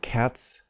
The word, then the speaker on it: cats: So notice the pronunciation of the S, the final S here. Cats, dogs, they sound different. They're spelled the same, but they're different.